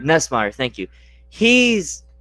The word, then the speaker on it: Nussmeier: I don't want to try to pronounce his last name. Nussmeier? Nessmeyer, thank you.